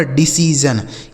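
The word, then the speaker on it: decision: गया दोस्तों सी और एस आई ओ एन का उच्चारण क्या हो गया जन लिखा गया दोस्तों आपका डिसीजन क्या लिखा है मेरे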